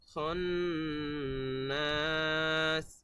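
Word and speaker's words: الخناس: খান্নাস এরকম হবে গুন্না, দুই জায়গায় গুন্না।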